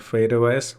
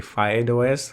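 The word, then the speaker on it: FydeOS: We also have this operating system called Fade OS. Some call it a Fide OS. That's actually the right way to say it, but I'm just gonna call it Fade OS.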